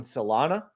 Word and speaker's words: Solana: Now we have a pending sell signal again on Solana.